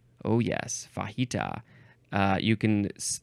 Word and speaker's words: fajita: okay h next is fahita oh yes fahita uh you can the first syllable can be F or fa fahita fahita it is